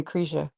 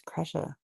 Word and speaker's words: Kresha: It's just like when somebody calls me Krisha, and I'm like, it's Kresha.